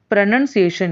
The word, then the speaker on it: pronunciation: The correct pronunciation is pronunciation.